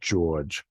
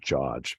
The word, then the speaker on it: George: on my dad's side, I have an aunt who pronounced it George, and then on my mother's side, there are people who pronounced it George.